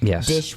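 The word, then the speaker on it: Disch: to say his name Thomas M Dish Dish with an s c dish sorry I want to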